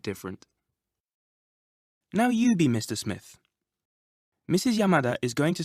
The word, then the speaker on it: Smith: Did you notice the Japanese pronunciation of the name Smith? Smith. Japanese doesn't normally allow for double consonants like SM, sm. You usually need to put a vowel between them. Also, Japanese doesn't have a th sound.